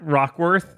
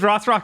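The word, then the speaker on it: Rothrock: I'm just thinking Cynthia Rossrock is or Rockworth. No, you said it right. It is Rossrock.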